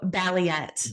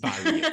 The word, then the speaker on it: Balliet: I hope I go your surname right please pronounce it for me marketing oh my name yeah yeah yeah your saw name oh balet balet yeah I knew it sounded a bit off